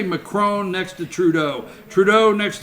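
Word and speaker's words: Macron: at the president let me just say something McCrone you gotta say it like that McCrone amanda aiton all right amen they was McCraw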